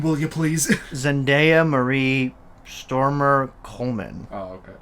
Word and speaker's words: Zendaya: at one time he was like bad-mouthing uh zendaya zendaya is how you say the name zendaya yeah okay well he was just like you